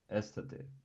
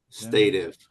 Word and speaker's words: stative: Intransitive or estative? Estative is how you pronounce that? Stative.